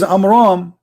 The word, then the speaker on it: Amram: You see how we close the name? Because Muhammad, he could not even pronounce it correctly. So the correct name is Amram.